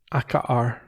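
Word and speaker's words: Akaar: the leaders tent the tear aka yeah they've got double vowels when they pronounce them both they do yeah yeah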